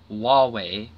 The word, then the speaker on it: Huawei: China to strike back after Court rules against huawei executive it's both Hua WEEI but it's pronounced Huawei kind of funky I'm just gonna